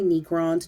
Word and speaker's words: Necrons: robot aliens known as Necrons. Some people say Necrons, depends on where you're on the planet. Both pronunciations are acceptable here.